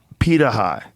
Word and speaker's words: Pirahã: And so these Pitaha, am I saying it right?